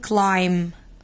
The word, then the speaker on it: climb: climbing بصوا بقى يقول لي الام لما يجي وراها بي في اخر الكلمة، المفروض دي كلمة climb climb، يبقى الباست سايلنت بس تكون بي فور بوك مش بي فور بن، تبقى climb climb climb.